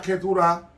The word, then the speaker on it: Keturah: Pero Abraham solamente tuvo un solo hijo según la promesa, porque él tuvo 8, 6 con Setura, que se pronuncia Keturah, uno con Nagar y otro con Isaac.